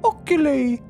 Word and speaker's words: oculi: Aurora, illuminate the oculi. Oculi. Oculi. Let me try. All right, I guess we know it's pronounced oculi since... Based on the rhyming schism.